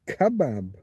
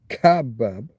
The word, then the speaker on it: kebab: The Arabic word is kebab, except there's a there's an accent over the a probably means you put emphasis there on that. And you usually accents mean stress this syllable. So rather than kbab, it's going to be kebab. kebab. Aramaic kebab and Aadian kebab. Kabu got to put that stress on that middle syllable.